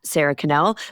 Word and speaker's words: Sara Connel: So, sarah canel.